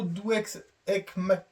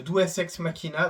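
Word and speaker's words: deus ex machina: ont sortis par le le nouveau dux ma je prononce faux j'ai pas fait de latin les gars c'est le douex Makina donc c'est ce qu'on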